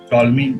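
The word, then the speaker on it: Ptolemy: है जैसे साइकोलॉजी में पी से स्टार्ट होता है लेकिन साइकोलॉजी बोलते हैं, उसी तरह ये टॉलमी नाम से है, पी टॉलमी, ठीक है पी नहीं बोलते हैं टॉलमी बोलते हैं, साइंसदान का नाम है जिन्होंने जियोसेंट्रिक थ्योरी दी।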